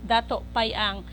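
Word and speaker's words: Datu Piang: payang no the right the right pronunciation is Dato payang that is Dato Piang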